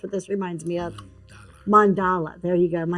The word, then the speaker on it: mandala: It reminds me of one of those, what is it, the Mandela, like the designs are on the coloring books and stuff that are so pretty. That's what this reminds me of. Mandala.